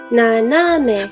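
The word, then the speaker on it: 斜め: I shouldn't say it goes up. It's more flat. 斜め. It's more like the middle one goes up a little bit. 斜め. 斜め. naname.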